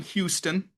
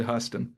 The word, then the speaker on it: Huston: the podcast, we said Huston. Classic. There's no O. It's just Hus. Right. Houston, the city is HOU. But so that's what threw us off. But I guess it's the same pronunciation.